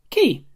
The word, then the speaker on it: Qee: from college this is a key pronounced key which is a vinyl